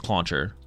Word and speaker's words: Clauncher: This one's clauncher.